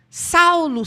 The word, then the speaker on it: Saul: dele em hebraico e a pronúncia correta a escrita correta é Saul Saul Saul Por que